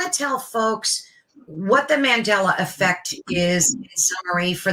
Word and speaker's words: Mandela: so that's why it's called the Mandela not mandala but Mandela effect which may sound like someone's name name and it is it's named after Nelson Mandela who a lot of